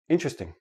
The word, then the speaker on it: interesting: word is interesting but in everyday speech interesting interesting interesting I have four syllable syllables when I actually say it naturally it becomes three syllables and that T and the R becomes like a CH but that's we'll talk